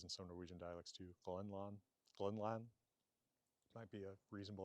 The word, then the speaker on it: Grønland: Now, in Danish or Norwegian, it is spelled somewhat like in Old Norse, but without that long mark, although it's still pronounced as a long vowel.